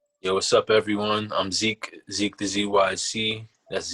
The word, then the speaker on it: Zeeq the ZYC: I'm Zeeq the ZYC. That's ZEEQ THEZYC. You could also say it like DZYC, but it's Zeeq the ZYC, just as it's spelled out.